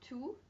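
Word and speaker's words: tout: and feminine plural and those forms are two for masculine toot for feminine to for masculine plural and toot for femin in plural so you're hearing to and to and those are the pronunciations whether or not they have an s on the end okay how might these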